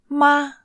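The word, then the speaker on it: 吗: This word is ma. Ma. I know it looks similar to another character, ma, and they share exactly the same pronunciation. Ma from mama, which you've learned in lesson 8.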